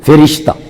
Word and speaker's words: فرشتہ: پیدا فرماندا ہے۔ او فرشتہ فاد نیچے زیر پڑ گئے تے تلفظ درست ہے، فرشتہ۔ او فرشتہ اس عالم